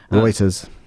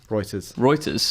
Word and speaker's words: Reuters: Reuters. How do you say it? Reuters.